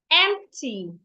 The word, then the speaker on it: empty: Empty. Emp. The P is not silent even though it's not audible.